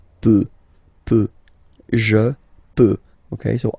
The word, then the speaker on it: peut: Then il, elle peut. So you will put T at the end. You don't pronounce it.